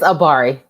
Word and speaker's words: Abari: Did I pronounce that right? It's Abari.